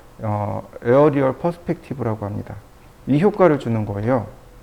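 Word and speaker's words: aerial: 1초에 그 다음에 보시면 아리엘 퍼스펙티브라는 값이 나옵니다 이 아리엘 퍼스펙티브가 뭐냐면 어리타게 보이는 효과 어른어른하게 보이는 효과라고 보시면 돼요 말이 좀 이상하네요 어른어른하게 보이다 어디다가 저장을 해놨는데 에어리얼 퍼시픽티브라고 읽으면 좋겠고요 여기 있네요 이런 이미지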